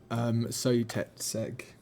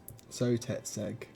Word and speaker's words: Sotetseg: Sotetseg. Sotetseg. Sotetseg. It's spelled you can see it on the screen here if anyone's curious.